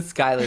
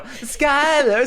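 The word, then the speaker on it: Schuyler: It's the Skyler sisters I think. What the That's not how it's spelled in the song. They go Skyler Sisters.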